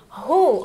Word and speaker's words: who: Who, olha só a pronúncia, who, tá? Aqui tem um WH, só que aí você vai fazer um sonzinho de who.